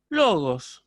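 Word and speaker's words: λόγος: acentos bien por ejemplo en el caso de logos yo yo diría logos y logos esa elevación tonal sobre la sílaba ahora en el caso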